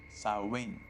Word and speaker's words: Samhain: potential death some pain is a Gaelic word pronounced sarwin and it refers to a pagan religious Festival